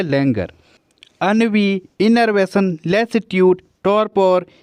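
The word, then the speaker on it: ennui: इसे एनवी मत पढ़ना। AE उसकी स्पेलिंग होती है ENVY, एनवी। इसका मतलब क्या होता है? ईर्ष्या को कहा जाता है एनवी, लेकिन ये क्या है? अनवी है। तो ध्यान रखना, ये अनवी है और वो क्या है, एनवी है।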